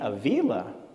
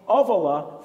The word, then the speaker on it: Ávila: You must mean Avila. Yes, that's what I meant. And I thought, how nice of her to teach me the proper pronunciation of my name. It baffled me, though, because my publisher has called me Ávila for 7 years.